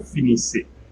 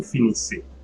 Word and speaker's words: finissez: Vous finissez, so EZ at the end will be pronounced A. Vous finissez, you finish or you all finish.